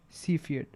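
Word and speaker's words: Cepheid: of these standard candles are called CED variables right that's how you pronounce it CED so the special things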